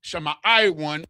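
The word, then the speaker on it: שמעון: So now the Lord has heard Leah is the mother of Shama or Simeon. And the ancient it's the sha, the ma, the i, the wah, and the na.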